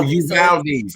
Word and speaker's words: Uvalde: So the U is silent. No, Uvalde. Oh, Uvalde.